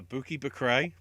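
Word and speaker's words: Bukky Bakray: we have the bafta rising star award uh bookie bakrei thanks uh mcavoy for telling us how it's pronounced and the the best thing about bucky's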